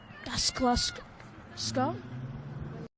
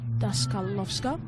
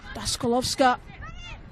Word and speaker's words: Daskalovska: and be replaced by Mia Daskluska. Mia Daskalovska, I believe is the pronunciation. Sabre tries to turn and shoot, not able to do so. Sorry, Daskalovska.